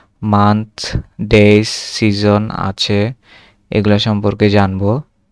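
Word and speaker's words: die: দেয়ার থাক আর এটা তো ডাই হবে না। এটা হবে ডি।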